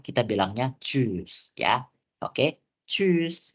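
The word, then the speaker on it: tschüss: bilangnya chose ya Oke chus gitu bacanya jadi ada agak eh ya penekanan gituah di bagian huruf Um lautnya jadi kita enggak bisa bacanya choose doang Tapi bilangnya choose gitu ya jadi di bagian u Um laut itu harus kentar gitu ya seperti tadi gitu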